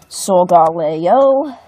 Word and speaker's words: Solgaleo: What was that pronunciation? Solgaleo.